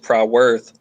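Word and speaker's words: Prywth: one word um but the reason why it's pronounced proud worth um i had mentioned to you how all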